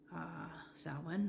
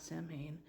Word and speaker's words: Samhain: Samhain, not Samhain, is an ancient Celtic festival. If I remember correctly, the pronunciation of Samhain comes specifically from Ireland.